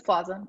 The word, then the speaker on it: Plaza: It reminds me, I was watching an interview with Aubrey, I never know how to pronounce her last name, Aubrey Plaza. Is it Plaza? It's Plaza.